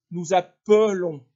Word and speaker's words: appelons: avec nous et vous la prononciation change un peu j'appelle tu appelles ouvert appel il appelle l appel on appelle nous appelons fermé nous appelons l appel